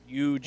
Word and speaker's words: Ujiri: Ujiri. Well, you should know. He's the GM of your team. Masai Ujiri. Masai Ujiri. Rhymes with cheery.